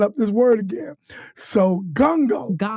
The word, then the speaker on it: Ngongo: You My husband's last name, my my last name, my married last name is pronounced Gango.